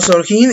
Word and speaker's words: sorgin: En el País Vasco y en Navarra se utilizó también el término sorgin o sorgin en su pronunciación en castellano.